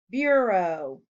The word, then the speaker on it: bureau: Bureau has a long O sound in the second syllable. Uh-oh, but there's no O, so it should go in the oddball column. While it does have the long O sound in the second syllable, it is not spelled with an O.